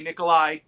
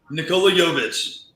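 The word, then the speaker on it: Nikola Jović: me a favor say his name for me nikolai nikola yovish thank you uh i'm bad with names uh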